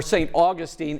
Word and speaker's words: St. Augustine: Augustine, Florida, or St. Augustine as it's correctly pronounced, is the oldest city in the United States, but it's also a place many go to feel young again.